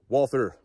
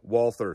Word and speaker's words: Walther: I am aware that it is not said Walther. Someone in the comments is surely going to point that out. The German pronunciation would be something closer to Walther, but I do not fluently speak German, nor does the vast majority of my audience.